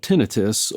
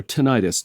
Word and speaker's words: tinnitus: and I learned that it was called tinnitus or tinnitus depending on your your preferred pronunciation and I read up